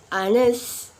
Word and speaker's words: honest: word for example like our honest yep we're not pronounce h when H in uh